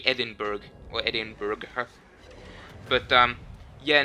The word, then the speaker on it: Edinburgh: i knew that hey it's edinburgh it's not edinburgh so um uh my